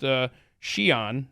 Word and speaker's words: Xi'an: And it's in the town of, it's spelled Xi apostrophe A-N, and it's pronounced Xi'an, apparently.